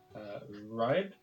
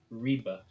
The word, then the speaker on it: Ribe: I had been calling this city where we started out on the map Ribe, but actually it is pronounced, I believe, Ribe.